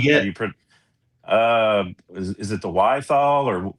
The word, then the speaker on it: Wiethaler: Uh is it the Wiethaler How do you say Wiethaler?